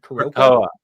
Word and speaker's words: Krakoa: How do you pronounce that word? Krakoa.